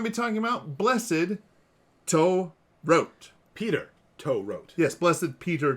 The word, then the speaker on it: To Rot: We're just really trying to make sure we get the last name right, because if we pronounce it the way it looks in English, it is not good.